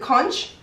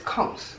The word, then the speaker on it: conch: Kung is right people people pronounce it kch or conk but it's Kung Caribbean people say con it's that thing that